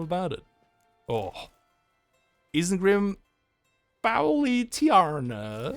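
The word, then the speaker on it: Isengrim Faoiltiarna: Isengrim Foully Tiarna. Isengrim Foil Tiana.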